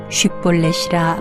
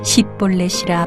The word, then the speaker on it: 쉿볼렛: 아니라 하면 그에게 이르기를 쉿볼렛이라 발음하라 하여 에브라임 사람이 그렇게 바로 말하지 못하고 십볼렛이라 발음하면 길르앗 사람이 곧 그를 잡아서 요단강 나루턱에서 죽였더라.